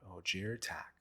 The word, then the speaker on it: Ojer Taq: let's talk legendary today we'll be talking about OJ attack so OJ attack is a legendary god from the plane of